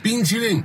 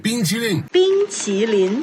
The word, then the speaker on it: 冰淇淋: In the ice cream video, he pronounces the consonant of qi like the English ch instead of the t sound in Mandarin. 冰淇淋。